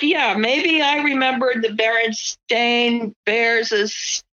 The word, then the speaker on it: Berenstain: just crazy, like the Berenstain Bears. That one blows me away because it's not the Berenstain Bears, it's the Berenstain Bears. So I've been saying it wrong and spelling it wrong and seeing it wrong for how long?